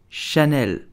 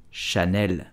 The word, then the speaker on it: Chanel: luxury goods and accessories so how do you pronounce Chanel it's very simple you would say Chanel Chanel Chanel did you know that you know